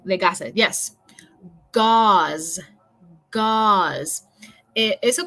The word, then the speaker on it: gauze: Gauze. Eso como rima con la palabra para pata de animal, como pause o pausa or pause. Eso sería gauze.